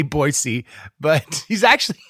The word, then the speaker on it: Boise: say it wrong so I've been saying Boise wrong my whole life probably so boisey is very belaboring this point Rob says boisey and I should have asked him about this like why I say it wrong or if only people from Boise say boyy but he's actually it's